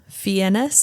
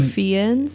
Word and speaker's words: Fiennes: Naomi Harris, Ana de Armas, Ben Whishaw, Ralph Fiennes is I think how you say his name, or Fiennes, or I've heard it pronounced different ways.